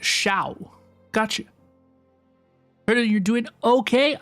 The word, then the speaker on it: Xiao: Xiao is pronounced Shao.